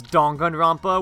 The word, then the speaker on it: Danganronpa: only say oh or they ask why I pronounce it as dongan rompa when the title themes say it dang I